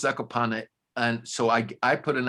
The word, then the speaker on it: Zakopane: Everybody who looked at the writing said train to Zakopane. They didn't pronounce the E. Uh-huh. It is pronounced Zakopane.